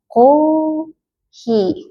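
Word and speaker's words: コーヒー: Ini bacanya udah jadi panjang bacanya jadi ko hi kohi.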